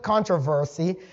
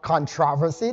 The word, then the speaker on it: controversy: Now notice this thing says, for centuries the great controversy, or controversy, depending on where you're from, both pronunciations are correct, between Christ and Satan has continued.